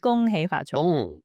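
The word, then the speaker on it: 恭喜發財: Gong hei fat choi.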